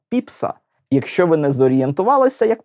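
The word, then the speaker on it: Pepys: щоденника X століття семюела Ні не пепіса і не піпіса А піпса якщо ви не зорієнтувалися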